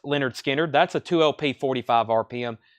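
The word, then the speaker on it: Lynyrd Skynyrd: have another analog Productions Leonard Skynyrd pronounced Leonard Skinner that's a 2lp 45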